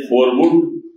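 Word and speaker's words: Verwoerd: सरकार थी राष्ट्रपति थे फरव जिनके नाम की स्पेलिंग आप लिखेंगे तो रवर्ल्ड होगा ओई आर डबल आर लेकिन उच्चारण है फर तो व रा फरव उन्होने आफिशियल पॉलिसी अ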